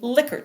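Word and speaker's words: Likert: Now, this is an example of what we call a liquor scale. So, it looks like Lykert, but it's actually pronounced liquor scale. A liquor scale is a scale that's often used, and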